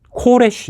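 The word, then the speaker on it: כורש: 이 옛날 히브리 말로는 이것을 어떻게 읽었느냐 하면 코레쉬 이렇게 읽었습니다.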